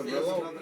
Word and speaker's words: Cabrillo: People pronounce it either Cabrillo or Cabrillo. You know, it's from Spanish, so properly it would be Cabrillo, but a lot of He's got a pretty big pile.